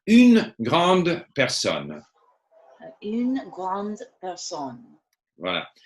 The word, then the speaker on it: grande: So there again, because it's une grande, there's a E there. So even if you don't pronounce the E, we have to hear the D.